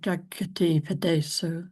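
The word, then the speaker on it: jagatippadeso: Navijati so Jagati Padeso. Wonderful. So with almost one very slight, and there's you slightly missed the doubling of the padeso.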